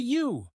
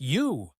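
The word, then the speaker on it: ewe: The female is a U spelled E we but pronounced just like U.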